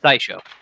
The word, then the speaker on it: Saisho: The Okami, was it Saisho or Saisho that you pronounced it, Patrick? Saisho.